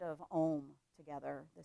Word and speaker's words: Om: chanting the sound of Om together, the sound of oneness. And Om actually has 4 different pieces to it. Ah, oo, and then silence. Ah, oo, silence. So if you want to